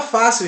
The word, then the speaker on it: fácil: disse aqui a vocês, F-A-C-I-L, fácil. Porque esse I, esse L, ele automaticamente ele faz com que a sílaba ela feche no final. Fácil. Ok? Fácil. C-I-L. Fácil. Então esse A fica em bastante evidência e a palavra fácil ela é acentuada paroxítona.